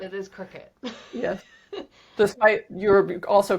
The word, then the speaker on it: Cricut: Because when you see it, I want to say cry cut. but I know, yes. It is but it, pronounced cricket. it is cricket.